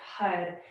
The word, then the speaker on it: Har: Each time we clap the hands, we chant HUD, H-A-R. And it sounds like HUD, H-U-D, because the A is pronounced and the R, it has a roll on it, so it'll flick the roof of the mouth.